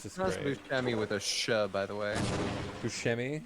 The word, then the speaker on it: Buscemi: like if you like busami it's just nice by the way buscemi like that yeah okay it's italian so really he dates